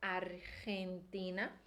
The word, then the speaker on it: Argentina: retina tem que ser aqui atrás da boca Argentina Então essa primeira sílaba e vai ser rende e depois o